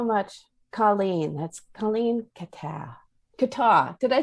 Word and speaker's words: Kattau: Kattau.